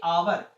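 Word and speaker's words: hour: एन आवर, क्या आएगा यहाँ पे, एन आवर, क्यों आया, क्योंकि आवर बोल क्या रहे हैं यहाँ पर, आवर, आवर पहला क्या आ रहा है, आ, तो एन आवर, एच यहाँ पे साइलेंट है।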